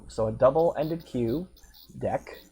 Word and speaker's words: deque: a double ended queue deck it is pronounced a deck I'm not just making